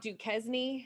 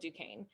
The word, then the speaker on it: Duquesne: was fort duquesne um that is uh not duquesne it looks like duke esme right it's a french word i don't know what it means but um but you pronounce it fort duquesne um so the british